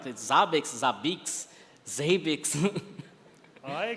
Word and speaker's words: Zabbix: yeah and what you say it's the right pronunciation that you defend like the zabix zabix zabix I call it zabix so it's zabix guys thank you thank you again